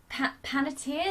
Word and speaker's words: Panettiere: Dot is voiced by Hayden Panettiere, is that how you say her name?